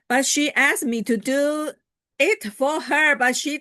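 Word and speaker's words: deux: And do is French, D-U-E-X, and the X is silent.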